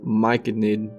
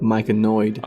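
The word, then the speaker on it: Myconid: took me even longer to realize that it's pronounced mike nid not mike annoyed we've come a long way you guys are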